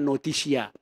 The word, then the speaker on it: notitia: Bahasa kerennya, bahasa Latinnya, pengetahuan itu notitia, tulisnya notitia, bacanya notisia.